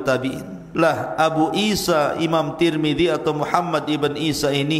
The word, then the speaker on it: Tirmidzi: kota sebuah daerah dan ada yang kemudian membacanya tarmid ada turmud ada tirmid jadi ada sebagian mengatakan Imam tarmadizi ada yang mengatakan Imam turmudzi ada yang mengatakan Imam Tirmidzi walaupun yang masyhur adalah Imam Tirmidzi ya dan itu yang